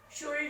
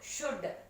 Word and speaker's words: should: How to pronounce the word we? WEV, should. SHOULD, should. ఏమనాలి? షుల్డ్ అనకూడదు, షుడ్.